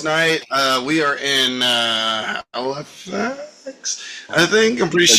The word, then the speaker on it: Halifax: We are in Halifax, I think. I'm pretty I sure. guess Is that how you pronounce it? Halifax, yeah, yeah.